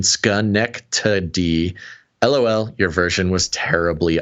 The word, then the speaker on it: Schenectady: Basil Schenectady, and then he gives me the pronunciation, Schenectady.